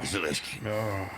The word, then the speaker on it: Zelensky: Zelensky.